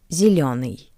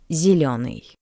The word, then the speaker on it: Зеленый: The first ye is unstressed. That's why it sounds closer to the soft e. Зеленый. Зеленый.